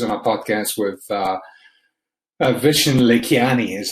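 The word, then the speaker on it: Vishen Lakhiani: him he was on a podcast with uh vishen le kiani is how he pronounces his name and and uh it's what's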